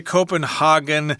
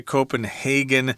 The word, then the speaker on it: Copenhagen: Some people say Copenhagen, some people say Copenhagen.